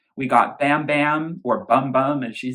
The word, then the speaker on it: Bam Bam: She doesn't really pronounce the A sound. It sounds a little more like bum bum bum bum bum. It's not Bam Bam, which is what I thought it would be, with Ed Sheeran, which